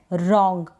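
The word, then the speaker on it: wrong: तो डब्ल्यू आर को हम पढ़ेंगे र यानी डब्ल्यू का उच्चारण नहीं होगा। तो यह है रॉन्ग। क्या है? रॉन्ग। यह जो एन है यहां पर यह बिंदी के रूप में यानी आधे न का उच्चारण यहां पर इस एन के लिए हो रहा है। और जी को हम ग पढ़ते हैं।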